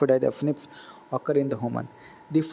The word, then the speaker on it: SNPs: Scientists have identified about 1.4 million locations where the single base DNA differences of SNP, single nucleotide polymorphism, pronounced as the SNPs, occur in the human.